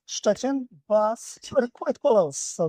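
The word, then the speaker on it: Szczecin: Welcome to Chuchchin.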